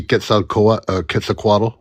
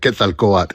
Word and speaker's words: Quetzalcoatl: I say it like that. Quetzalcoatl is the actual pronunciation, but It's a go.